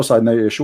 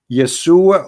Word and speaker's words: Yeshua: You say yes, Yesu, but there's no side no Yeshu. What Yeshu? It is Yeshua or Yeshua.